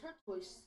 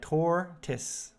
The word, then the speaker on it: tortoise: the hair and the turquoise that now you got me saying it wrong gorgeous yeah tortis very good the hair and the